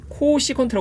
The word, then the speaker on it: 코시컨트: csc 세라고 표현을 해서 얘를 앞으로 우리는 뭐라고 발음을 할 거냐면 코시컨트 발음을 할 거야 그래서 코시컨트 아고 이제